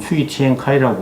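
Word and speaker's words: 崔天凯: 최청계를 중국 발음으로는 추이티엔카이라고 그러고, 그 부장조리는 우리 외교부 직제로는 차관보에 해당됩니다.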